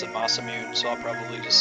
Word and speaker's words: Masamune: know that it's pronounced Masamune like that's the Japanese you pronounce every syllable lost aw dang but as a kid I always pronounce it Masamune so I'll probably just